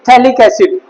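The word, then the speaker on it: phthalic acid: क्या बोलेंगे, this is थैलिक एसिड। पीएच होता है silent, थैलिक एसिड, okay, थैलिक एसिड।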